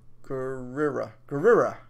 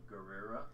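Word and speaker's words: Gurira: Dana Guerrera. Guerrera. Deny Guerrera. I think that's how she says. She says it with kind of like a da-da-da, you know?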